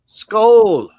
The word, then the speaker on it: Skål: Skål.